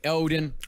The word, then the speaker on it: Odin: Othin, Odin. Yes. Othin. It's Othin. I see.